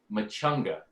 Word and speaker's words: Maciaga: And his last name was Machunga. Even now, that's the pronunciation, but it's spelled Maciaga.